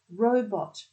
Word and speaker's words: robot: It's 2 syllables. The first syllable is an open syllable, so that becomes an O sound. And the second syllable is a closed syllable, so that becomes a short vowel sound, an ot sound. O, because it's an open syllable, bot, b, o, t.